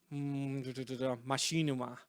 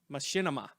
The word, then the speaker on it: Machinima: Legacy YouTube series by Machinima. Is that how you pronounce it? Machinima. I've seen multiple pronunciations of that, but I'll trust Mike on this.